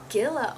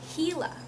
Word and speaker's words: Gila: The word Gila, oh, I'm pronouncing it wrong. The word Gila is pronounced Gila.